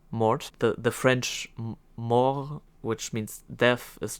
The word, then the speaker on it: mort: Mort the the French more which means death is just straight up m o r t silent t because it's French I think Spanish and